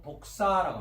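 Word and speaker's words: δόξα: 이사야서 11장 10절을 보니까 헬라어로서는 1391번 독사라고 합니다. 독사. 발음을 독사라고 읽습니다.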